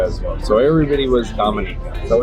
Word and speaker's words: Dominica: ah Dominica not not Dominica Dominica yeah so we asked the taxi driver how do you say the island it's not Dominica it's Dominica he grew up here he